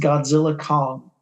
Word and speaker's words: Godzilla x Kong: came in number one the x is silent it's just Godzilla Kong new Empire oh the old silent